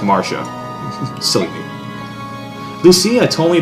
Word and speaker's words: Marcia: I called her Marcia, I think. It's actually pronounced Marcia.